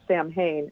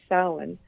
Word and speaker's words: Samhain: the John Carpenter movie, they pronounce it Samhain as if it's like a person named Sam. But yeah, because it's Celtic, it's got a weird pronunciation. So, yeah, it is actually pronounced Samhain.